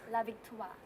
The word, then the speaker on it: La Victoire: It's pronounced La Victoire. La Victoire. Toi, with the hand motion. Toi.